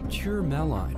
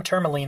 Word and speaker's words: tourmaline: few places number four pure malign is a gemstone that is classified as being semi-rare and comes in a wide variety of colors the correct pronunciation is tourmaline excellent there it